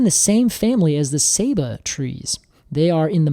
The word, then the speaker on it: Ceiba: I know we look at it and we think Ceiba, but it is pronounced Ceiba.